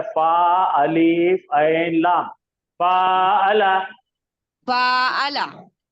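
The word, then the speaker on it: فاعل: तुम्हारे और प्रोनाउंसिएशन गलत हो रहे, रुक जाओ। उसका जाहदा सांचा, रुको रुको रुको, उसका सांचा है फा अलीफ ऐन लाम, फाअला।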